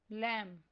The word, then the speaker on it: lamb: A silent letter in a word is one that is written but not pronounced, such as the B in lamb.